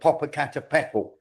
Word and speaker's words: Popocatépetl: There was one in Mexico called Popocatépetl. I've pronounced that right.